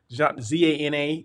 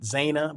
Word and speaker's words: Zana: zanna usher zhanna zhanna z-a-n-a you know i always pronounce it zayna but no it's zana zhanna okay so she's